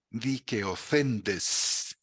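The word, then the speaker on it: δικαιωθέντες: Un término precioso, ahí para quienes todavía no leen el griego, se pronuncia dikeothendes, que muchas traducciones traducen como justificados, habiendo sido justificados.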